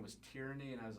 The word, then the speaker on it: Tierney: You said your name was Tierney, and I was like, what? And you're like, Tierney, and I was like, Tierney, and I kept saying it wrong. You're like, no, like tear and knee.